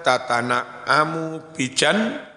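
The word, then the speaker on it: تتنعم: Hatta takuna tatana'amu bijannatin. Bita'aini, tatana'amu itu bacanya dengan dua tak maftuhataini, yang dua-duanya di fathah.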